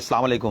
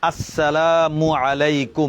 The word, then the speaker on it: আসসালামু আলাইকুম: উচ্চারণ কি দেব কিভাবে নাকি আসালামু আলাইকুম এভাবে না না জি না বলব কি বলব আসসালামু আলাইকুম এভাবে স্পষ্ট করে বলব কেমন দুই নম্বর